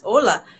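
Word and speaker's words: olá: Yes, it's similar to Spanish because in Spanish it's hola, but in Portuguese it's hola. Ah, just the stress is different.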